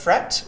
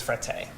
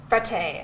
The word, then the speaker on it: Frette: some people pronounce as fret which would be the French Connection and some people pronounce this frate but the right way is frate frate as the Italians would say yes exactly um so